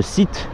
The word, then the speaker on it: Seat: Il y a un bouton fuel et un bouton Seat, pas la marque de voiture, c'est juste SIT mais prononcé à la française, donc pour ouvrir la selle.